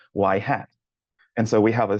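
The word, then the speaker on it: ŷ: use the nor clature y with the hat on top and we pronounced it as y hat and so we have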